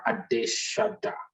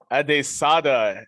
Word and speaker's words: Adesada: His name is Adeshada. Did I pronounce that right? Adesada. Everyone wants to say Adeshada. It's Adesada. Adesada.